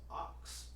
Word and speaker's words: Aks: Well, in actuality, man, it's pronounced Ox. Ox the Light. Yeah, Ox. it's spelled AKSDALITE, but Ox.